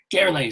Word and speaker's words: Gerle: Gerle is how you pronounce it? Gerle.